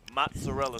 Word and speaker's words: mozzarella: My favorite is the amazing mozzarella sticks.